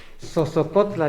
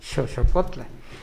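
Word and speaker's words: Xoxocotla: Sosocotla le dicen aquí, según las teorías sería Xochocotla.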